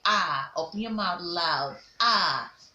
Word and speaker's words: R: Don't call it R anymore. R is a wrong pronunciation. You say ah.